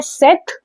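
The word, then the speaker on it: cette: Then है सेट सी E double T ई इसको भी हम सेट प्रोनाउंस करते हैं और इसको भी हम सेट ही प्रोनाउंस करते हैं। ठीक है? दोनों का प्रोनाउंसिएशन सेम ही है।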